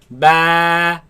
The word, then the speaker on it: ب: Ba. با Ba. با Ba. با Now this letter of course comes from the lips. Do not suck the lips in. Ba, ba, no. Keep the lips normal. Ba, ba, ba, ba, ba.